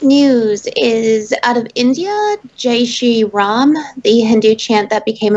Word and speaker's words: Jai Shri Ram: Jai Shri Ram.